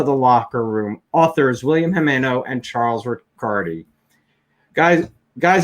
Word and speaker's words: Jimeno: please welcome to the locker room authors william hemano and charles ricardi guys guys am i pronouncing your names right i hope uh yes yes jimeno good good good thank you both for being